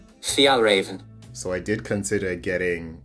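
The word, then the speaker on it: Fjällräven: So according to Siri, it's pronounced Fjallraven.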